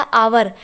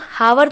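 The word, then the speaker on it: hour: है जैसे यहां पर इसे हम हार नहीं बोलते इसे हम आवर बोलते हैं तो यह साइलेंट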